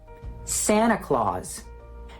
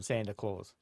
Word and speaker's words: Santa Claus: for that and see if they are dropping that T from Santa Claus. Santa Claus. Do I say it as well? Do I drop the T?